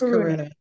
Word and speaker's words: Karuna: It's Karuna.